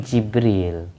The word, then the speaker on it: Jibril: Inggris Jilan algilani kayak Jibril Gibril kan tulisannya Gibril Tapi bacanya Jibril Gibril bertiuta Jibril jadi